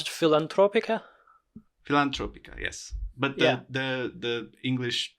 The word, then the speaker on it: Filantropica: Yes, we are going to talk about as we mentioned in the beginning, a Romanian film called how would you pronounce it? Filantropica.